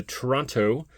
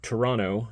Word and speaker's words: Toronto: Really came into his own after being traded to Toronto or Toronto. Sorry, I don't want to make my Canadian viewers mad by by pronouncing the last T there.